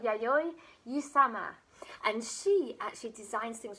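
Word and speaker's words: Yayoi Kusama: called and i asked my nephew how to pronounce this so if i get this wrong i'm very sorry but she's called yayoi usama and she actually designs things with pumpkins so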